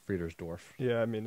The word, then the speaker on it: Friedersdorf: named connor friedersdorf um freeze dwarf right is that how you pronounce it um no i think no you're right you're right friedersdorf yeah i mean it's